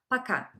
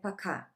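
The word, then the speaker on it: пока: you say goodbye in Russian it's very simple paka paka maybe you would ask why I have written it like poor car and it's pronounced like pakka because all the Russian ores are pronounced like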